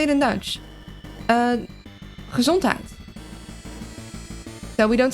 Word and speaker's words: Gezondheid: Gezondheid.